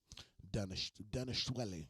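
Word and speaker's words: Dvalishvili: Danishwele is how you say it.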